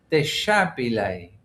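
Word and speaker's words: déshabillé: The word I think is pronounced deshabile. What's that noise? Deshabile. Yeah, deshabile. And it's a French word, obviously. Well, I say obviously, it sounds French, doesn't it?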